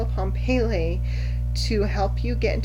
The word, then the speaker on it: Pele: No, did I call her Peel? Pele, the Hawaiian goddess of volcanoes.